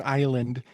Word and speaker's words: island: yeah, I will point out there's a very creepy phonetic anagram in the word island, and it is the word denial is a phonetic anagram because the S is silent in island.